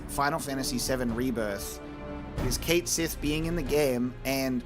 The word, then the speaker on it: Cait Sith: And we're I know that we're going to call it Cait Sith because that's what we've decided in canon, but the true Gaelic pronunciation is actually Cait Shee.